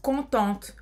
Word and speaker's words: contente: E para uma mulher seria je suis contente, por exemplo. Je suis contente. Essa vez você vai pronunciar o T, né? Je suis contente.